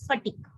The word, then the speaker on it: phatic: उसकी प्रोनाउंसिएशन मैंने लिखा है PHATIC is pronounced as फटीक, या स्मार्ट ओपनर है।